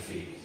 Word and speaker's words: Phoebe: Why say Phoebe? Because well, I want to do a picture of. Do you want to spend 5 minutes teaching the word the pronunciation of Phoebe?